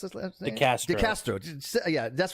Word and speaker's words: DeCastro: uh this guy chili DeSanto is that he pronounce it the Castro yeah that's right it's julita Castro and I